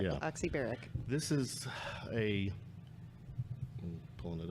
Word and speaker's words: Oxybaric: I'm going to pronounce Oxybaric. Yes, that's correct. Yeah. Oxybaric.